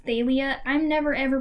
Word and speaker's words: Thalia: okay where he said that talia's name was pronounced thalia i'm never ever pronouncing it that way because